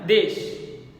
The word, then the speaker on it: দেশ: দেখো, আমরা অনেকেই ড্যাশ বলে থাকি, ড্যাশ, তাহলে ড্যাশ উচ্চারণটা আমার ভুল, ড্যাশ হবে না, দেশ উচ্চারণ হবে।